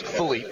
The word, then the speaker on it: Philippe: It's spelled like you would think Philip, but pronounced Philippe.